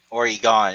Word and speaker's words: Oregon: And then a lot of people mispronounce Oregon. It's like there's no Oregon? gun in Oregon. Oregon. Oregon is more like it. Kind of like Oregon.